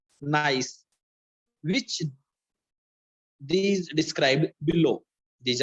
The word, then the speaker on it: gneiss: Gneiss. Gneiss. G is silent here. Gneiss.